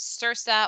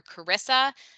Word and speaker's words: CRRSAA: This is known as CRSA or CARISA. The acronym doesn't really lend itself to an easy pronunciation, but you get to pick.